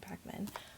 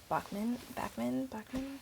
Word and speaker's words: Backman: For adapted to screen, I'm gonna go for Beartown by Frederick Backman. Bachman. I feel like if it was Bachman, it would be an H, like because it's a K. It's Backman.